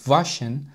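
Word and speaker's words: waschen: يمكنني ان اغسل يدي نلاحظ مقطع الاها في كلمه فاشن نطق على انه شين شديده السبب لان مقطعين تساوي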